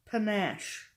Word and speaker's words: panache: And it's a retro vibe with serious panache.